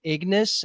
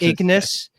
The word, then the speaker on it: Ignis: So let's move over to our last planet here, Ignis. I said Igni the first time I pronounced it because I'm thinking of the Witcher spells, but Ignis, planet Ignis, which we're told is